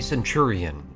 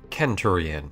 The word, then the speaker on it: centurion: the centurion or kenturian if you want to say it like a weirdo with a questionably motivated interest in ancient taran history is one of the